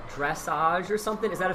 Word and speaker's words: dressage: So what is was that, I don't know how to pronounce, dressage or something? Is that a thing? Yes, dressage.